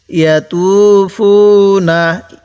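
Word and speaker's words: يطوفون: এবার এখান থেকে ইয়াতুফুনা, ত টান দিব, ফাও টান দিব, তাহলে কিভাবে পড়ব?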